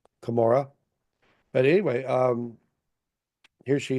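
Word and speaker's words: Cumorah: in the hill con Conan now again we don't know why she would pronounce it that way but that's the way the person wrot wrote it down but we know eventually it's called kamora but anyway um here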